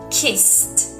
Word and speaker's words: kissed: check some other examples kiss kiss it doesn't vibrate so kissed is the correct pronunciation another word washed washed